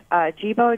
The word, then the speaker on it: Jibo: Can you spell that for us? It's Jibo, J-I-B-O.